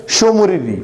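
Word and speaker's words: Tso Moriri: Next one इज शोमुरिरी, यार T silent यहाँ पे, शोमुरिरी again eight Jammu and Kashmir.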